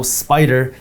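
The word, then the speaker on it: SPDR: just so you know spider is spelled s p d r now when we talk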